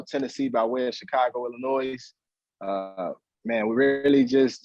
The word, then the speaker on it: Illinois: been gone that long you know that s is silent man illinois man in the noise no it's all good